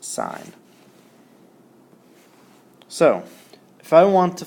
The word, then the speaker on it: sine: Say we have the sine of A, and sine is always abbreviated SIN, but it's pronounced sine.